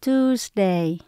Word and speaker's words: Tuesday: Ngày thứ ba là Tuesday. Chữ này mình đọc là giống như là chữ tu các bạn nhé. Tu. Sau đó có chữ S mình đọc là Z.